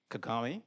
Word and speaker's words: Kagame: Kagami.